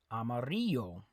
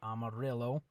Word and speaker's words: amarillo: the color yellow okay it's not Amarillo Mario the Double L makes like a y sound okay that's a white